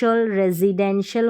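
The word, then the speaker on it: residential: यहां पर है रेजी ये एस को हम ज पढ़ रहे रेजिडेंशियल हो गया प्रेज प्रेसिडेंशियल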